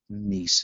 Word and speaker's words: niece: Jane is my niece is the correct answer. And, of course, that heart is necessary because the I is silent.